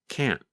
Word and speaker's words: can't: In American English, we call that a held T. Instead of pronouncing the T, your tongue just comes to a stop against the hard part of the roof of your mouth just behind the upper front teeth.